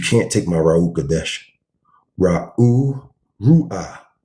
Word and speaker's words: Ruach: Ru'ah. That's how you say it. Ru'ah. Right? Ruach. Right? It's not this. This is all from paganism.